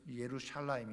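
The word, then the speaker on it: ירושלים: 저쪽이 아니라 그래서 예 그 정확한 발음은 예루살렘이라 그랬죠 예 예루샬라임 있데 예루샬라임이 바로요 베일거다 이렇게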